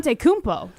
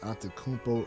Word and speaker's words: Antetokounmpo: Antetokounmpo. Well, hold on a second. It's pronounced Bo. The end is Bo.